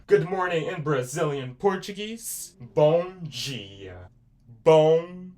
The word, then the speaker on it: bom dia: Bong G. Bong G. And I already taught you how to spell it.